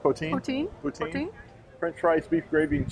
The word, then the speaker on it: poutine: Is that how it's pronounced? Poutine? Poutine.